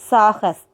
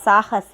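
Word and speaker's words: साहस: First word என்ன பார்த்துருக்கோம் அப்படின்னு கேட்டிங்கன்னா சாகஸ். First word சாகஸ். சாகஸ். அந்த லாஸ்ட்டாக வர எழுத்துக்களை புள்ளி வைத்த எழுத்துக்களாக தான் நம்ம ப்ரொனவுன்ஸ் பண்ணுவோம். அப்படி தான் நீங்களும் ப்ரொனவுன்ஸ் பண்ணணும். ஓகேவா? சாகச அப்படின்னு படிக்கக்கூடாது, சாகஸ் அப்படின்னு சொல்லணும்.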